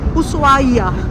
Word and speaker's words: Ushuaia: So that's the beautiful coastal resort city of Ushuaia. The H is silent.